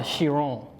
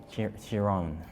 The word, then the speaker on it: Chiron: It's called the Chiron. Chiron.